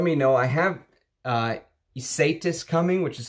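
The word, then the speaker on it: Ysatis: from 84 let me know i have uh isaitis coming which is spelled y-s-a-t-i-s um and that was created by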